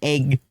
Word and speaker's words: egg: And I have unfortunately realized this because Griff pointed out every time they've heard Californians say egg. Emphasis on a egg. Hi, Griff. Egg has a short E sound, and if you don't say it, I'll cry.